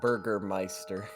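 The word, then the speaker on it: Bürgermeister: it's literally yeah Google Google Translate says it's Burgermeister the way I spelled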